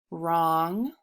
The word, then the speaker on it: wrong: So WR says the W is silent. And this happens at the beginning of words.